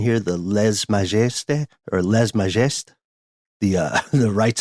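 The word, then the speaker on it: lèse-majesté: French pronunciation here, the lèse majesté or lèse majesté. The rights of the king. Guessing for a silent S there, but that's my only critique.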